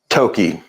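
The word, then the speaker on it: Thoky: pronounce your last name Toki but it's spelled t h o k y the H is silent okay I'm sorry I just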